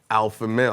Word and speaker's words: Alphamel: You got my man Alphamel.